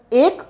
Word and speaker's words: ache: Neither it is pronounced as h or ek, we call it ek without emphasize किए हुए.